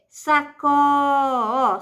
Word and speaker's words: sacola: amor é jiló é sakora sílaba tônica de sacola é o pó Então ela é paroxítona e ele pede para